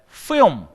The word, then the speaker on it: film: film. 그지? L 발음 안 해요.